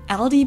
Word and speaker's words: Aldi: In English, people usually pronounce this Aldi. I think I've also heard Aldi before, but I think most people say Aldi.